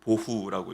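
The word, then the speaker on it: בֹהוּ: 여기서 혼돈 공허라는 두 명사는 성경이 기록된 언어 히브리어로 각각 토후 보호라고 읽습니다. 발음이 어떻습니까? 오후 하는게 비슷하죠.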